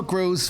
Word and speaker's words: Gros: jenny both said grows funk and i'm like i don't like it and buddha goes you're you grow the funk well also your last name is often mispronounced as gross anyways they're gross right